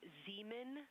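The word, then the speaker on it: Zeman: We believe that that is Zean Crater. Zean. Okay. Can you say the first letter? I may be pronouncing that wrong.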